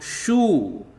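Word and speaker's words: शु: and you get this sound shoe when you add sh to oo. Sh plus oo equal to shoe. Sh plus oo equal to shoe. Shoe. Okay, and shoe is pronounced like shoo in shoot.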